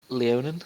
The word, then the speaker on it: Leonin: from Leonin. Is that how you pronounce it?